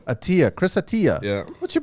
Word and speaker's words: Attia: We got, how do you pronounce the last name? Attia. Attia.